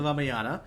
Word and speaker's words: Ramayana: me just correct you on that uh actually pronunciation yeah so the one you heard about was called the raaya the ramayana mhm so this is this happens like in